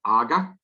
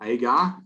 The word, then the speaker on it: agar: we use another one called AGA or agar as some people pronounce it that's the material